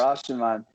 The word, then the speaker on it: Rashomon: I'm probably going to spend a minute trying to pronounce it correctly, but Rashomon? Did I say that right? Got it. Yeah. Yes. Yeah, Rashomon.